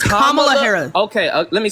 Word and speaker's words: Kamala Harris: It is Kamala Harris. You are able to say it. You can say it. If you speak English, you can say comma.